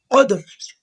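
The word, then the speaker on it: قدر: অক্ষর একসাথে বলতে হবে কদর। আর এখানে কফ দেখতেছেন, কফটা জিহ্বার গোড়া থেকে মোটা ভাবে আদায় হবে, কফ উচ্চারণ জিহ্বার গোড়া থেকে মোটা ভাবে ও, এইভাবে কদর।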